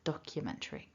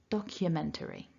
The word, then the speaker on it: documentary: Documentary. And the second tip is that towards the end of the word, if you recall from the script, we've got a schwa in the penultimate syllable, so t-ri.